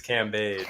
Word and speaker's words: Cambage: And even though one of you pronounced this person's name wrong, her name is Liz Cambage, but that is the answer.